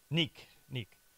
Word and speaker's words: Niek: Do I pronounce it Niek? Is that how you say it? Niek.